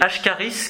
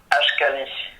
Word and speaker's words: Ashkali: Il n'y a pas une ethnie, alors je vais peut-être mal le prononcer, les Ashkaris, quelque chose dans le genre? Je peux peut-être mal le dire? Ashkali.